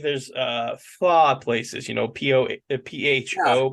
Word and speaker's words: pho: So like there's pho places, PHO, but it's pronounced pho.